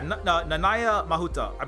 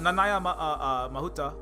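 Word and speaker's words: Nanaia Mahuta: Yeah, Nanaya Mahuta. I'm pretty sure, unless it's different from Hawaiian pronunciation, I'm pretty sure that's how you pronounce it.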